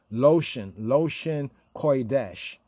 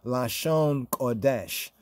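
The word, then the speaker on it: לשון קודש: Loshen Kodesh. That's how they say Lashon Kadosh, or Lashon Kodesh. Lashon Kodesh, but you can see how they pronounce it right here.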